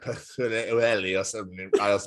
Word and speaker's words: Pwllheli: good old Des, and I was trying to pronounce the name. It's near Bangor. It's a Haven holiday resort called Pwllheli, and I said it, and they were like, "Oh, Tom, please say that again."